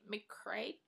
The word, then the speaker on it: McCreight: And then the last book I got was Reconstructing Ameila by Kimberly McCreight.